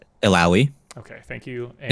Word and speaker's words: Illaoi: Illaoi. Okay, thank you. And it's like owie after ill.